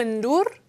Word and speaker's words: Ndour: sé si estás tú en dur porque luego cuando mé en en Wikipedia yo creo que su apellido no se dice la n Asu Aquí siempre se ha dicho Asu endur as endur se hecho